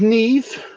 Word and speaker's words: Niamh: There's Neve, and that's spelled Niamh.